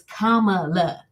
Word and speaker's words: Kamala: couple months ago like I kept on saying Kamala mom was like my mother kept on saying no it's Kamala and for someone to have a hard name